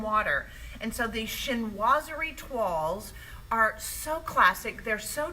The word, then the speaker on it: toile: Toile is a French word. It's fun to say it once you know how. Jean Howard was trying to write it as toilet. It's not pronounced that way. It's toile.